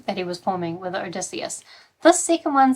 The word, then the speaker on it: Odysseus: I think it's Odysseus and Menelaus.